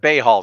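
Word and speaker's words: Bhaal: Started a place called Bahal's Deep, spelled BAHL''S Deep. Like Bayhal, the Lord of Murder.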